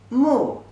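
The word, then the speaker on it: 目: Pronunciation is mo, u, mu. The fourth tone means I.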